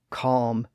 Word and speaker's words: calm: That environment caused the L sound to be lost in words like talk, walk, chalk, folk, yoke, half, calf, behalf, salve, calm, and balm.